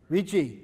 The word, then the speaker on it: Ricci: that does anybody know the guys name was Ricky or Ritchie Ritchie thank you okay so that's that